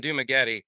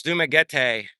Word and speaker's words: Dumaguete: I got to stop saying Dumaguete. It's Dumaguete. I pronounce it wrong.